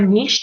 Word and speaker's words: niche: Okay, again, a niche or a niche, depending on how you pronounce it, is the particular set